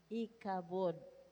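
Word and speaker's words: Ichabod: In 1 Samuel 4: 21 the Hebrew name translated as ikabod is ikabod. Pronunciation.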